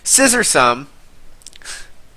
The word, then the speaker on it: Scissorsome: Scissorsome. His name sounds a little dirty, but he's referring to the Pokemon Scizor, and then awesome.